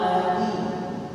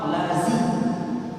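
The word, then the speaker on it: الذين: Dan begitu juga ada huruf lagi yaitu za dengan zo. Seperti siratal ladzi. Siratal ladzi. Bukan siratal lazi. Bukan zi tapi zi. Siratal ladzi. Jadi dia zal hurufnya agak tipis bacaan, sedangkan zo hurufnya agak tebal.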